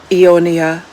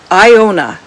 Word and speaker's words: Iona: in King's Cove and it is written by Ionia Iona Whishaw. Now I'm going to spell that for you.